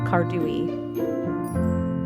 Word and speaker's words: cardui: The scientific name is Vanessa Cardui and some people will say Cardoui.